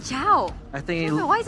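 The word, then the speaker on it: Chou: Mobazane apparently pronounces it as Chow. Oh. Is that the proper... No. It's not? I think because Chow is from China, from the lore. That's why we call it Cho.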